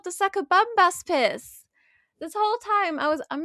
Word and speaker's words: Sakabambaspis: It's actually called the Sakabambaspis.